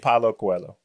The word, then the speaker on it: Paulo Coelho: Paulo Coelho. Paulo Paulo Coelho.